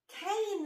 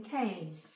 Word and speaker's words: cane: is a and then we added silent E to change poof magically can went to Kane that's right because this becomes a does the Walking not the talking so can cane and then we built